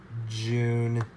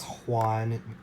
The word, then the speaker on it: Jun: June. Not Juan. I'm using the Chinese pronunciation.